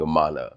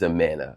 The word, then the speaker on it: Amana: I see I say I keep saying it wrong. I don't know, it's fine. I think it's the New Yorker in me saying Amana, but it's Amana.